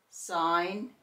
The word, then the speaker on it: sign: The G is silent and we only hear the N, as in gnat, sign, and design.